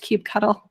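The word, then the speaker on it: kubectl: they um have definitely it is now written down it is pronounced cube cuddle that that made me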